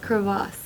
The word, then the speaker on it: crevasse: I guess it's pronounced crevasse.